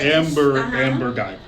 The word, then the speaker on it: Amber Geiger: So Amber Geiger. Am I pronouncing her name right? Yes. Amber Geiger.